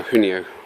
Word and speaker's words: Huoniao: That's how I pronounce it now, Huoniao. It's a bit easier than going into a garage and going, "Hi now." They go, "What are you talking about?"